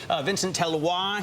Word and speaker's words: Vincent Deluard: Vincent Deluard here from TrimTabs. Did I say it? Did I say it right? Perfectly correct, like a Frenchman.